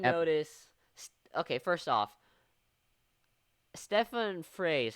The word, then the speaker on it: Frey: Okay, first off, Stefan Frey is how you pronounce his name, right? Fry. Fry.